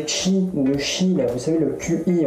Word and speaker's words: Qi: là, vous savez, le QI, en fait, ça se prononce Qi.